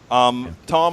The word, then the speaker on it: Thom: and folks that was Tom Hartman and you know I have to remember it's not farm even though it has the edge he reminded me that the H is silent but anyhow folks were